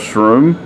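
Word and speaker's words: Shrum: invited to come out and join pastor charles shroom is that how you pronounce it s-h-r-u-m from okay uh charles strum and congregation for revival with a different minister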